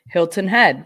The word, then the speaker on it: Hilton Head: the way I say Hilton Head they say that I actually pronounce the T Hilton Head Hilton Head